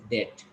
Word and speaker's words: debt: Yes, that is a debt. And which letter is silent here? B. B. B is silent.